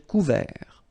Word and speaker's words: couvert: Un ciel couvert, final T not pronounced. Un ciel couvert.